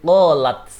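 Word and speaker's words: قالت: Contoh qala, karena dia kemasukan tak taknis menunjukkan perempuan, maka cara bacanya hamznya harus kelihatan menjadi qalat.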